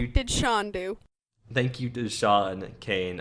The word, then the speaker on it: Sean: hate saying this name i know it's shawn but i always pronounce it scene because it looks like scene sean kane [ __